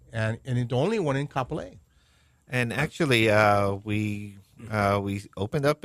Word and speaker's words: Kapolei: It's in Kapolei.